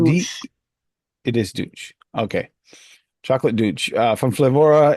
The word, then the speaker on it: Deutsch: I'm not sure how do you pronounce that exactly from Flavorah. Chocolate D. douche. It is Deutsch.